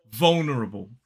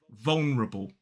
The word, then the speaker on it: vulnerable: and another dark L vulnerable four syllables the stress falls on the first now another way you